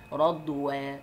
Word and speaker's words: رضوى: ألف، دي اسمها ألف مش ياء. أنت بتقول إيه؟ رضوى، جرحى، كبرى، صغرى، حبلى، نطقتها ألف ما نطقتهاش ياء.